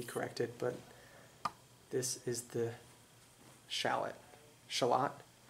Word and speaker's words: shallot: I might need to be corrected, but this is the shallot. Shallot? The accent on which syllable? It's not the one that sounds like the onion. It's the other one.